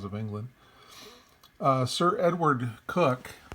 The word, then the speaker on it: Coke: England uh sir Edward cook I know it looks like Coke but it's pronounced cook suppos the com law